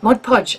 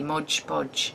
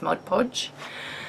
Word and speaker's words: Mod Podge: own gesso Mod Podge Mod Podge I said it right for those of you that hate it when I say Modge bodge it's not it's Mod Podge um yeah so Lisa